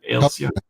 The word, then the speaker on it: Halcyon: I don't know how you pronounce it, but it was the good record store. HALCION or something like that. Halcyon.